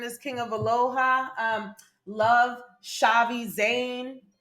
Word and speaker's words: Chhavi: Love Shavi Zane. Shavi, this is gonna be a little harder.